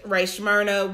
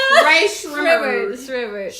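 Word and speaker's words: Rae Sremmurd: Ray Shrimmered. Shrimmer. Like drummers backwards. That's what it's Shrimmered. eardrum. Oh, is that what it is? Drummers backwards. Ear drummers.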